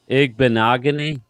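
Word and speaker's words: Igbinoghene: Noah Igbenogany, that's how you say it.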